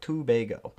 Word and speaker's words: Tobago: isn't too bad uh two bago tobago tobago i got it now two bago uh that's how you pronounce it a tanner what's up